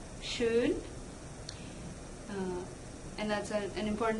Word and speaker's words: schön: There is oh, like in schon, and the trick when you want to say oh-umlaut is ooh, schön, and that is an important distinction; schon means already and schön means beautiful.